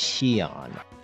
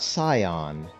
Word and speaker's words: Shion: It's Shion, not Scion, not Shion, Shion.